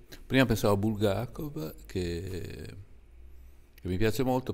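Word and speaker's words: Булгаков: miha detto su chi e io ho detto su bulgac Ah non lo conosco io l'ho detto ma è quello che ha scritto Il maestro e lei mi ha detto si dice bulgakov e quindi no cioè è una cosa che sbagliano tutti io sembra che sono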